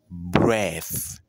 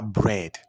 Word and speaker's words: breath: Breath. Breath. Pas bread. Non. C'est breath.